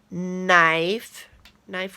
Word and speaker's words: knife: So I'm going to write banana, knife with that crazy silent K that we don't hear, and I'm going to write dish here.